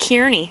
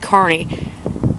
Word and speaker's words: Kearney: He said, oh, I thought it was pronounced Kearney. I said, no, it's pronounced Kearney.